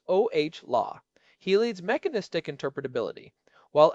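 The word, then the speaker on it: Olah: And then there is Chris Ola pronounced oh law.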